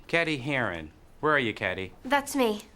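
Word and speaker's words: Cady: Where are you, Caddyy? That's me. It's pronounced like Katie.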